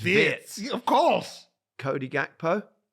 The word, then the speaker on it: Wirtz: And he said, Florian Wirtz, wrong. But it's never Wirtz. been. It's Wirtz.